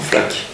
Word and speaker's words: Flaq: a sorti comme ça dans le métro on prononce son FLAC et c'est vrai que ça sonnait bien premièrement